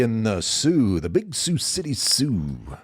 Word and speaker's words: Sioux City: the sue the big Sue City Sue Sue with an X yeah the c a c it's an S isn't it dang it